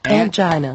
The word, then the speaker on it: angina: Angina. And that word again is... Angina.